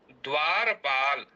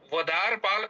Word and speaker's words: द्वारपाल: अब यहां पर एक उदाहरण दिया है द्वारपाल। तो यहां ध्यान दें यहां पर वाद वदार पाल ऐसा नहीं बोलेंगे।